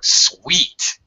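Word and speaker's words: suite: the first one or sweet okay the second one is pronounced is a homophone of sweet it sounds the same as sweet these two words do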